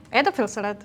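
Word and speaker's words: Erdäpfelsalat: Sagt man mittlerweile wohl auch in Österreich, aber sag noch mal, wie sagt man es eigentlich? Erpelsalat. Okay, genauso wird ausgesprochen.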